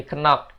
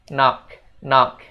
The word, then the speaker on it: knock: Nah, mulai sekarang jangan bilang lagi kenok, tapi bilangnya knock, gitu guys.